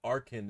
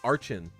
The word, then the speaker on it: Archen: said that uh uh arkhan is the way to pronounce that pokemon to me because i always called it archen and she was like no it's arcane like archaeology and i was like